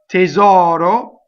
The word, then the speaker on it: tesoro: Now, tesoro follows the same rule of the stressed vowel is now open, the unstressed is closed. Tesoro. Tesor. And this final R will be rolled.